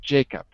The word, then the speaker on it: Jacob: And in the second, how many syllables? Two. Two. Which is the stress? Always the first? The first.